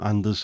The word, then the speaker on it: Anders: The name Anders is pronounced Annis, yeah.